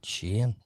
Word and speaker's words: Shein: But yeah, Taylor, you're right. Shein. It's what they say. That's what it's called.